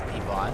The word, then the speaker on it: Ivan: his mom calls him Ivan to differentiate the two. But the funny thing is that his mom, she pronounces it differently. She doesn't say Ivan. She says Yvonne.